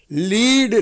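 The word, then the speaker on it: lead: blood ஆறாவது வார்த்தை பாருங்க லீட் லெட் லெட் இந்த வார்த்தையில ஸ்பெல்லிங் பாருங்க ரெண்டு ஈ கிடையாது ஒரு ஈ ஒரு ஏ இருக்கு அதை லீடுன்னு உச்சரிக்கணும் அந்த ஏ போய் ஏ வந்து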